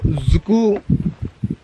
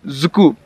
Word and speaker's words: Dzukou: So Dzukou Valley loosely translates to soulless or dead in English.